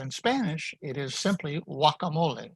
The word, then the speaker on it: guacamole: that start with gua the g is not pronounced at all so in english we say guacamole but in spanish it is simply guacamole guacamole the g is ignored